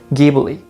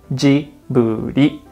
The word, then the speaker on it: Ghibli: first one is ghibli i've heard americans pronounce it like i said ghibli but in japan we say djibouti and there is an